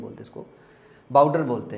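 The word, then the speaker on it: boudoir: के बैठने का कमरा हिंदी में बोलते इसको बाउडर बोलते हैं क्या बोलते हैं बाउडर बी ओ यू डीओ आई आर बाउडर बी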